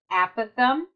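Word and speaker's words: apothem: stands for the a Pithom and it is pronounced a Pithom which is the length from the center of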